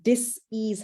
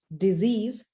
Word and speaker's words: dis-ease: And that's where dis-ease happens. Now, most people pronounce that word as disease. It's not disease, it's actually dis-ease. And that means a mind and body which is not at ease, because your mind is